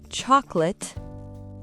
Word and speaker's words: chocolate: Chocolate. Ce n'est pas late, c'est let.